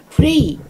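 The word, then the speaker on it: Frey: 프레이. 근데 그 사람은 미국에서는 프라이라고 그래요. 프라이.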